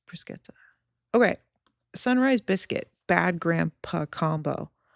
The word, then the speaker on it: bruschetta: Bruschetta. Okay.